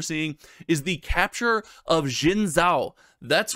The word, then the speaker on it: Xin Zhao: And then finally, I practice this pronunciation. The last reprint we're seeing is the Capture of Xin Zhao.